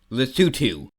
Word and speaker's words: Lesotho: Lesotho and It's pronounced Lesotho.